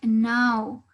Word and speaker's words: know: En este caso, esta palabra tiene una silent K, ¿sí? Es decir, que la K es silenciosa. ¿A qué me refiero con silenciosa? Que no la vamos a pronunciar. Es decir, que no voy a escucharles a ustedes decir now o a tratar de escuchar algo antes de la N, ¿sí?